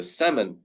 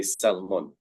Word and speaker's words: salmon: So salmon is the way we pronounce this word in English. We do not say salmon, even though it is the same spelling.